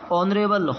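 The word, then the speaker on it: honourable: उसी से उच्चारण हो रहा है स्वर से उच्चारण हो रहा है क्या हो जाएगा एन एयर उत्तराधिकारी होता है इसका का मीनिंग ऑनरेबल ऑनरेबल नहीं है।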